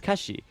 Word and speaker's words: Kathy: Um, this is actually a play on words um of the Korean pronunciation of Kathy, which is kashi.